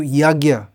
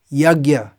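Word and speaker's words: यज्ञ: to translate the sanskrit yagya or yajna as some people pronounce it which according to some is the correct pronunciation so those who have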